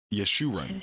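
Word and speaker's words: Jeshurun: just shoe running yesterday yes shoe run is how they pronounce it yes you run strong's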